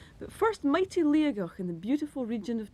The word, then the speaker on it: Liathach: As it is written, it is pronounced Liathach, but I know that old native Gaelic speakers from Torridon sometimes pronounce it Liathach, where the T in the middle should be a G.